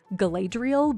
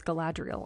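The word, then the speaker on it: Galadriel: Rings recently and I actually learned how to pronounce gadriel I had been saying galadrial but according to the movie It's gadriel I didn't know anyway that's the glitter we're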